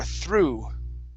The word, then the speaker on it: through: next is through through give me a good th HR through through okay good uh this